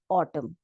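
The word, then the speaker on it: autumn: हमारा वर्ड आता है ऑटम ऑटम अब यहां पे देखिए ऑटम यहां पे हम म बोल रहे ऑटम न नहीं बोल रहे हैं लास्ट का जो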